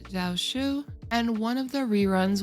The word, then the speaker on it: Jiaoqiu: For version 2.4, we are going to be having Yunli, and I believe his name is pronounced Jiaoqiu, and one of the reruns will more than likely be Huahua, since we actually haven't gotten a rerun for her yet.